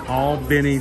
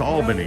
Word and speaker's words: Albany: Now, already someone's going to go, it's pronounced Albany. Well, you know, they call it Albany in New York, but you know, we like to draw things out. We'll call it Albany.